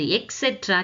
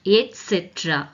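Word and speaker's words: et cetera: அது எக்ஸெட்ரா கிடையாது, எட்ஸெட்ரா. What is that? எட்ஸெட்ரா. எட் அதுக்கு வரணும், ஆனா நம்ம எல்லாருமே எக்ஸெட்ரா அப்படின்னு சொல்லிட்டு இருக்கோம்.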